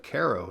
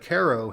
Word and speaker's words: Cairo: And famously at this point is the town of Caro, spelled like Cairo, Egypt. The county has about 4,500 people. It had 25,000 in 1940. The city of Ko has 1,700 people.